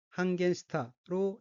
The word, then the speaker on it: 半減した: 우선 빨간색 줄침 부분을 보면 둘째 줄 어휘는 한자가 한국어로 반감이고 각기 반반, 덜 감자로 되어 있고 일본어로는 한겐시타로 읽으며 한겐시타는 반감하다는 뜻인 한겐스루의 과거형입니다.